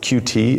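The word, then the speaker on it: Qt: this we do this because of cute and I suppose pronounce its cutie is the you know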